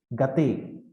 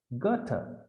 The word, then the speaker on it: Goethe: So such a mind had Goethe, German writer, but in Tamil Nadu, generally people say Gate. I don't think Gate is the right pronunciation. Goethe, T-U-H, Goethe.